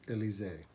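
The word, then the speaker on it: Elysée: it is spelled e-l-y-s-e-e alyssia i've always called it alyssi but uh i think the proper pronunciation because i think it's supposed to be french or something is uh elise uh this is the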